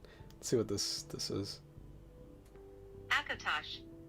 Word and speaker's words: Akatosh: Akatosh, the Dragon God of Time, is the chief